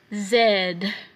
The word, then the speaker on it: Z: Zed. Zed. Zed. So letter Z in English is pronounced as zed in French.